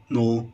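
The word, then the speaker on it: know: طب الغير منتظم نو، نيو، هنا الكي لا تنطق صامته، نو يعرف، نيو عرف.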